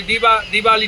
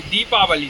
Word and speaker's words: दीपावली: दिवाली नहीं कहना चाहिए, दीपावली, हैप्पी दीपावली उसका शुद्ध उच्चारण होता।